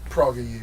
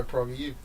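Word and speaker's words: PragerU: Praga U, yeah.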